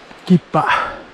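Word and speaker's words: 木場山: ギッパ、木場山と書いてギッパと読みます。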